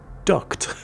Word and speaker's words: duct: that I realized just how careful you need to pronounce or annunciate the word duct in order to not make it sound that you're talking about duck tape.